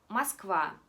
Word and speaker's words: Москва: cerca de Moscú, nosotros cuando la O no está bajo el acento, simplemente decimos como por ejemplo Moskva. Nosotros no decimos Moskva, decimos Moskva.